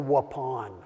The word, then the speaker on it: Waupun: a little town called Waupun the only reason I remember how to pronounce this because it's like please pass the gray Poupon you know that's how I